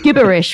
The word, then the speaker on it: gibberish: writing gibberish, which is pronounced gibberish with a hard G, which is just gibberish.